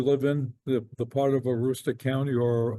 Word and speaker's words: Aroostook: But I was going to ask, does the region itself that you live in, the part of Aroostook County or Aroostook, is that how you Mhm. would pronounce it?